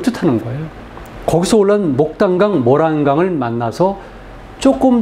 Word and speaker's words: 모란강: 한자식 발음도 모란강이 맞습니다. 목단이 아니라. 근데 우리나라 사람들의 다수가 심지어 교과서에도 무단장 그렇게 돼 있어요.